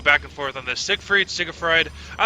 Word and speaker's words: Seigfried: It is pronounced Seigfried, but he has an I in there.